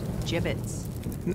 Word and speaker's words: gibbets: look Avery had some gibbets left over gibbets what it's pronounced jibbets are you sure yeah